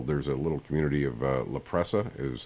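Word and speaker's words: La Presa: of dictionary Hill there's a little community of laprea is how you pronounce it across the Coronado Bridge the 53rd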